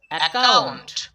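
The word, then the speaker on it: account: খেয়াল করো এখানে কিন্তু দুইটা সি পেয়েছিলাম, এখানে কিন্তু ক ক উচ্চারণ করিনি। আমরা প্রথম সি এর উচ্চারণ করিনি, দ্বিতীয় সি এর উচ্চারণ করেছি এই জন্য কারণ সি এর পরে ও রয়েছে। যখন সি এর পরে ও থাকবে তখন কিন্তু আমাদেরকে সি এর উচ্চারণ ক করতে হবে, আর পিছনে যে সিটা থাকবে সেই সি এর উচ্চারণ করা চলবে না।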